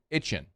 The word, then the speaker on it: Etienne: It's because it's just the accent of saying "A-chain" is what he's is what he's saying. I get it. And it's a it's a Southwest Louisiana thing.